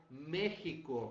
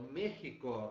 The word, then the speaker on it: México: é isso aqui pessoal mexico assim como mexicano apesar de ser escrito com x o som vale do j por quê porque foi